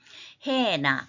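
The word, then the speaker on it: ἕνα: 단 한 번이라도 딱 주는 그 행위를 한다면 이 작은 자 중 하나에게 to one of these little ones 해나 거친 순표 때문에 해나라고 읽습니다.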